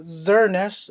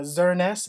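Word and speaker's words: Xerneas: on the Pokemon X Legendary is called uh xernest uh x e r n e s s is pronounced uh xernest and Pokemon wise um name is Eva tall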